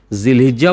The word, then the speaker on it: জুলহাজ: জুলহ আরবি গ্রামের হিসেবে যদি এর আগে কোন শব্দ ব্যবহার না হয় তাহলে এটা জুলহাজ বলতে হবে।